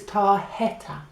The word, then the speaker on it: tarjeta: And it makes a h sound. So that's why it's tarjeta.